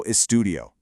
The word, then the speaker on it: estudio: The correct form keeps that I right where it is, yo estudio. You want to pronounce all those vowels really clearly so they don't get lost. It's four distinct beats.